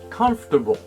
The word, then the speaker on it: comfortable: we have four syllables the last syllable is similar to the word bull the stress on the